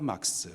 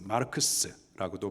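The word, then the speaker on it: Marx: 공산주의 이론을 창시한 사람이 칼 막스 마르크스라고도 발음을 하는데요 그가 어떤 사람 그는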